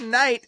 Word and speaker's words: knight: Canaanites which is why the word Knight has a silent k in front of it because it came